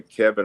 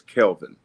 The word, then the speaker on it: Kelvin: Uh growing up a lot of people called me Kevin or Calvin and my mother would always say his name is Kelvin and she was really